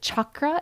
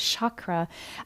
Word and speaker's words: chakra: how folks in southern India and northern India pronounce various words and combinations of letters. So both chakra as well as chakra also can be heard around the globe.